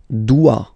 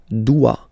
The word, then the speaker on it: dois: Je dois. Okay, remember, final S is not pronounced. Je dois. O, E, when you combine the two, you get the sound wa, wa, wa. Je dois. Okay. Tu dois.